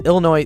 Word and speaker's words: Illinois: in Illinois it is Illinois the S is silent but they say Illinois